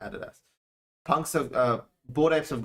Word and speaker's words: adidas: done something with adidas added us let's say added us because in australia you pronounce it adidas punks uh board apps